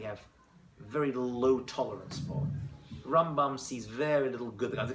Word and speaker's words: Rambam: Now the Rambam, you pronounce it that way. It's Rambam and Ramban.